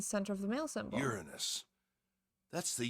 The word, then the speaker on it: Uranus: of the male symbol Uranus that's the Uranus symbol why would they say it like that Uranus Uranus it's not Uranus the way if you say Uranus like it's like urine us so either way it's